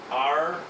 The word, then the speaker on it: โรงแรม: Okay, the word hotel in Thai, if we write it phonetically, it's rongraem.